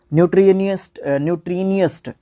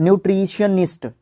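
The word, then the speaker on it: nutritionist: न्यूट्रीनियस्ट जो है न्यूट्रिशनिस्ट, न्यूट्रिशनिस्ट, very good, अभी आई है सही प्रोनाउंसिएशन।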